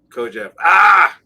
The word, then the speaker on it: Kojève: Kojève.